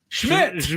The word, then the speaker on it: Szmyt: Schmidt.